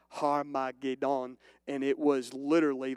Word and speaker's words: Armageddon: And in Hebrew, what you're looking at here, and this is the Greek or the English translation, Armageddon, it would be pronounced Har-ma-ged-on, and it was literally like the mountain of God, like the Mount of Megiddo.